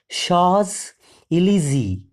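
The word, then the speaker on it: Champs-Élysées: paid off Madame Lael encounters genie on the shaw El look at the spelling once again though the spelling is c h a m PS e l y s w s it is pronounced as Sha elzy it is the very famous place in the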